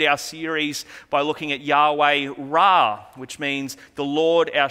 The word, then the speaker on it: Yahweh Rapha: And today we are going to be looking at Yahweh Rapha, which means the Lord who heals. This is sometimes pronounced as Yahweh Rophi.